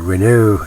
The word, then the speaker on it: Renault: all right it's basically the reynolds ft 17 or the renault ft 17 if you want to get your pronunciations correct okay uh very interesting